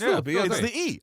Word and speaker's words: Phillippe: where they were like here's how you say her name. Phillippe. It's Phillippe. I don't know if it's the E. I've been saying A like April. Oh no no it's Phillippe.